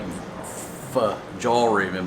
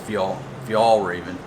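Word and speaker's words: Fjällräven: and spell like f-j-a-l-o-r-a-b-e-n so it looks like f jaw raven but it's i think pronounced fjall if y'all raven it's a swedish company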